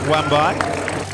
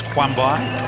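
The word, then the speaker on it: Kwambai: good athletes indeed James wambai I'm not sure whether he pronounce the k actually it's James Quan by personal best 210 impression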